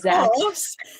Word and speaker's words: Zach: So obviously the first book is Kim, and then the second book is Zach, because it rhymes with back. So his name's Zach.